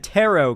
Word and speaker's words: tarot: Scap goat, if you Cuz I said tarot cards, which is how you pronounce it, and you knew there's a silent t at the end.